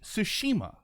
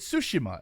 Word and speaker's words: Tsushima: Yes, see, I say Tsushima. I stress the middle syllable. In the video, he kept calling it Tsushima, and I was like, that sounds weird. That sounds like sushi.